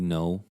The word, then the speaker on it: Ngo: Like, one is Andy No. Last name is spelled NGO.